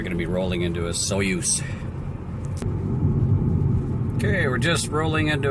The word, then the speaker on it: Osoyoos: Now, we're just on the outskirts of Osoyoos, and it's pronounced Osoyoos, as in moose.